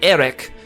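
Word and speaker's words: Éric: French it's Eric, although there's an accent aigu on the E, so it's more like Eric.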